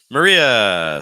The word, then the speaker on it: Maria: I've had a lot of students uh deitar Maria so this is like your mared Maria finishing